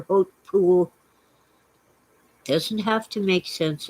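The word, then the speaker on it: Hautpoul: chateau hill pool h-a-u-t-p-o-u-l it's french it's pronounced hope pool or hope pool doesn't have to make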